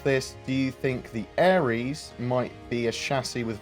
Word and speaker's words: Ares: And we saw a picture of the Austin office with Crusader Ares 2020, and it's spelled Ares like the god of war, not Ares like the star sign.